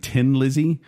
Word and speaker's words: Thin Lizzy: there and they said they kind of made fun of the Irish saying tin like you know he's a